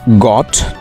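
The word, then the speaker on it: goat: Next, ছাগলের ইংরেজি গট। Most of the time তোমরা গট উচ্চারণ করে থাকো। গট উচ্চারণ হবে না, তোমাদের বলতে হবে গোট, নট গট। সো গোট ইজ the right pronunciation of গট।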